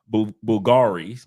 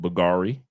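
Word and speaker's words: Bvlgari: here but Colona night is Bulgari even though you see that V the V is silent buari Men In Black it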